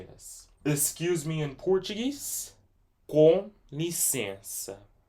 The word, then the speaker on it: Com licença: So just so you know that this C right here, after the I and before the E right here, it's pronounced like an S, but every time if